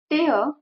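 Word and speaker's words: tear: अश्रू टपे किंवा अस स्पेलिंग एकच आहे इथ लक्षात घ्या ए आर मीन्स अश्रू आणि प्रोन्सिएशन मध्ये डिफरन्स आहे टे मीन्स फाडणे किंवा फाटणे ए आर व्न prawns which means अश्रू व्न प्रोन्स टेअर व्हिच मीन्स फाडणे किंवा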